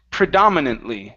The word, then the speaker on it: predominantly: uhhuh very nice uh this word here is pronounced predominantly okay with the stress right here predominantly predominantly okay so